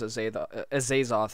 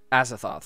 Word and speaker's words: Azathoth: The first one I did, and the only other one I did was Azathoth, and that... Azathoth, I think it was. That's how you say it.